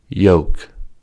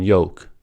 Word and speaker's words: yolk: yam yen yet yeti yolk yolk yum beyond kayak canyon l is silent in yolk and yolk and yolk